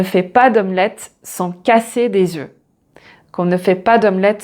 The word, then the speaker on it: œufs: Donc là aussi, la prononciation change et on ne prononce pas le F. Donc un œuf, des œufs, un bœuf, des bœufs.